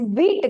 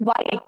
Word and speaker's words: Vite: V at the lest the pronunciation is wheat guys W sorry v e t okay it's not white it is wheat okay so now wheat